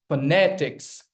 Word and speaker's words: phonetics: But the stress is there on the second syllable itself.